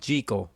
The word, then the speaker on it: Jekyll: jekyll and mr hyde in this movie it's pronounced jiggle but whatever frederick march is fantastic as the